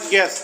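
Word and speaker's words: guess: चौथा है पांचवा है गेस तो इसमें यू साइलेंट है अगला क्वेश्चन देखेंगे इसमें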